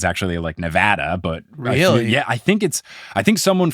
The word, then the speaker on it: Nevada: And, apparently I think everyone says Nevada wrong because it's actually Nevada.